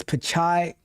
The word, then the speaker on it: Pichai: It's not Pichai. It is Pichai.